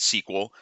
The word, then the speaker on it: SQL: structured query language right most of us pronounce it sequel like the sequel to a movie so it's the standard